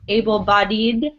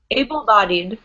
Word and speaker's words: able-bodied: bed imagine that it's able bodied okay right so we pronounce it like it's just two syllables bodied not bed it's